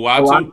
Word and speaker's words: Uatu: Uatu.